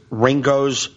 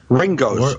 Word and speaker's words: Ringoes: I'm at Old York sellers it's uh it's Ringo New Jersey I've never heard of Ringo ever